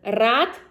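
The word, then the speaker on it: рад: So if you uh pronounce hard r in one word, it will mean one thing. But if you pronounce soft r, it will be another word. So for example, rad is glad and ryad is row.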